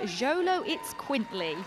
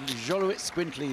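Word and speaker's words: Xoloitzcuintli: And then representing the import register, we have the Xolo Itz Quintly. Very good. Xolo Itz Quintly, this Aztec breed, yes. That pronunciation could have gone either way, Frank.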